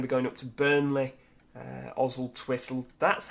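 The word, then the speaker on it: Oswaldtwistle: But we're going to be going up to Burnley, Oswald Twistle. That's how you pronounce that. It's not Oswald Twistle, Oswald's Whistle, or whatever it is. It is Oswald Twistle, because there's a place nearby called Church, and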